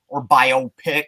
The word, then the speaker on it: biopic: You know, like sometimes when you're watching a biopic or biopic, as some people pronounce it, Tommy Lee was pretty good.